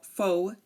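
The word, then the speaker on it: faux: a silent X um some one common one is fa we do not pronounce the X so we just say F fo fo some British say F but in American English we say fo um same goes for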